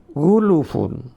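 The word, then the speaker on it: غُلُفٌ: Berdasarkan makna ini, ada sebagian kalangan sahabat Ansor yang membacanya demikian, yakni bukan ghulfun melainkan ghulufun. Bacaan ini diriwayatkan oleh Ibnu Jarir, yakni dengan huruf lam yang didommahkan.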